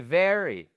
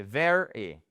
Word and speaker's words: very: Donc c'est very very voyez c'est pas ver, c'est very very et pas ver.